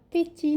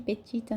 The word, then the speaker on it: petit: É le petit, não é petit não, tá? Muitos brasileiros aqui falam petit, petita, não, é petit, petita. O E tem som de O, então vai ficar petit roi, roi de la maison.